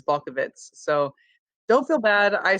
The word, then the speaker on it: Balkovec: no so i i said at bulkavec my entire life and i've just started to make an effort to say it the right way which is bulk of its so don't feel bad